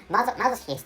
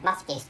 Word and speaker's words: masochist: pronounced I pronounced or I frequently pronounced M masochist instead of masochist which is a correct pronunciation of of masochist so such such a